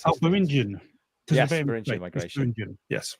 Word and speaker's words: Beringian: I can never pronounce this. Oh, Beringian.